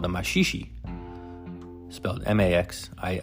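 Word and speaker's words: maxixe: polka music and a popular dance called the mashishi Max i x e the mashishi is a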